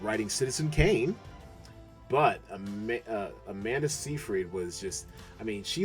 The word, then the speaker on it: Seyfried: And let me tell you, Amanda Seyfried, I think that's how you say her name, Seyfried, was just perfection.